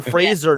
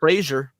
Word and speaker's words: Fraser: Brennan Fraser, not Frasier.